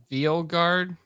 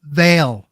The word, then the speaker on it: Veil: me yeah probably uh Dragon Age ve guard Veil Veil yes there we go Paul to the rescue